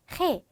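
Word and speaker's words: ge: 헤, 거친 히읗 소리.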